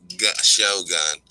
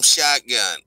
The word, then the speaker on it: Shogun: Pat is pronounced Shogun and portrays It is Shogun. I keep calling him Shotgun.